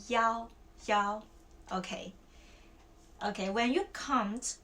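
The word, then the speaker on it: 幺: It's "yao". When you say the number, like the phone number, and also the number of your room, we will say "yao", okay?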